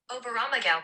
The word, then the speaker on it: Oberammergau: Everybody know how to pronounce that? Oberammergau Passion Play.